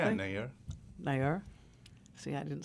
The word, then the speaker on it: Nayyar: Yeah, Nayyar.